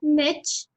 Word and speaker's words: niche: This is not niche, not niche. This is pronounced as niche.